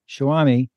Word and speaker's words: Showami: to be here now I I'm going to mispronounce it shaami how did it start where does the name